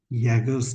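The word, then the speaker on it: Jaeger's: हम यूज करते हैं यैगर्स चार्ट। ये इसकी स्पेलिंग क्या होती है? JAEGER, यैगर्स chart. इसका प्रोनाउंसिएशन ऐसा होता है, यैगर्स चार्ट, ठीक है। ये जे जो है ये साइलेंट कर सकते हो इसको।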